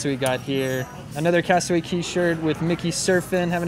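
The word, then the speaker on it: Castaway Cay: of cast away and that's actually pronounced castaway key not cass 28k i had no idea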